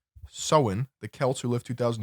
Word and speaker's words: Samhain: the ancient Celtic festival of Samhain pronounced soin the Celts who live